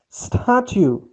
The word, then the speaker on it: statue: The statue. Here, please notice, put stress on S. Statue.